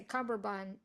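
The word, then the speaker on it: cummerbund: 87 my Memoir um I love that you guys are both pronouncing the D very emphatically I don't think I've ever once said it that way like I obviously say cumber bun which I actually am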